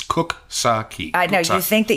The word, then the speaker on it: Coxsackie: a tote bag that gives you phonetic pronunciation it's cook saki I know you think